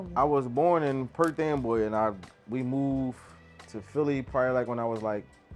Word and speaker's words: Perth Amboy: Perth Amboy. Say it one more time. Perth Amboy.